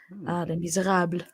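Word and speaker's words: Les Misérables: Les Miserables, well pronounced.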